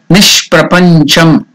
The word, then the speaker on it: Nishprapancham: Nishprapancham. Nish, that is Nir. Prapancham, it becomes Nishprapancham.